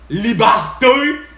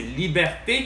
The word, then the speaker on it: liberté: ton petit Sirot insignifiant qui s'appelle liberé pas capable de parler comme faut de prononcer puis d'articuler hein c'est liberté qu'on dit puis non seulement ça